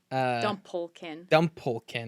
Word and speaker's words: Dumplekin: First, before we get into talking about Winnebret, Winnie, Dumplekin. Dumplekin. Like a dumpling.